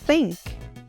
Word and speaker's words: think: O que você precisa lembrar sobre o TH é que ele é um som que precisa ser feito com a língua entre os dentes.